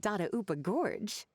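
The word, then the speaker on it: Dadaupa Gorge: Surely not in the giant cooking pot at Dada Upa Gorge. Oh, Dada Upa Gorge. Oh, that's how it's pronounced.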